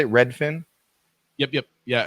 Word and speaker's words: Redfin: Redfin? Yep. Yeah, it's kind of like one fish, two fish, red fish, blue fish, except it's Redfin. Yep.